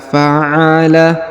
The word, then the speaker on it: فعل: Perhatikan, kita baca kata per kata. Alam tara kaifa fa'ala, ya. Alam tara kaifa fa'ala.